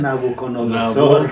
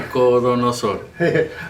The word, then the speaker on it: Nabucodonosor: llama su siervo nabuc Cómo se dice nabuconodosor Nabucodonosor nab corre sí eh